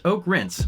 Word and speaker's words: Oakrince: the song Image by Oakrince, that's pronounced Oak Rinse, wherever you get your music.